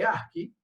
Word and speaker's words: ASCII: La codificación, en realidad hay formas de codificar, la más famosa la deben haber sentido nombrar, que se escribe así y se lee ASCII, ¿sí?